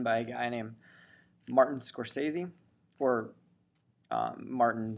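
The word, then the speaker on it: Scorsese: scorsi or um Martin scor sazy he pronounces it differently than everyone else actually pronounces it like everyone pronounces it scors but I think he actually pronounces his name differently so um anyway famous filmmaker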